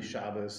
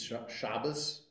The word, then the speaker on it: Shabbos: in Yiddish pronunciation it's Shabbos with a softer sound and the emphasis is on the second to last syllable or Sukkot because but